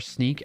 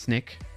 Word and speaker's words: Snyk: So, shout out to my company that I work for, Sneak. It's not pronounced Snick. It's Sneak, SNYK.